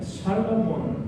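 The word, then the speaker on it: שְׁלֹמֹה: 월시라는 학자가 솔로몬의 이름을 가지고 히브리어의 의미를 이야기하는데 솔로몬이라는 히브리어로 발음할 때 살라몬 이렇게 발음을 해요.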